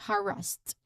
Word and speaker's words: harassed: So the pronunciation tip, it reminds us that you stress on the first syllable, of course. Harassed.